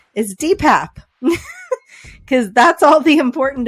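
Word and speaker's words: DePape: very concerned about people like me calling him de Pepe and wanted to make sure everyone knew the correct pronunciation of his name is dpap because that's all the important information he needed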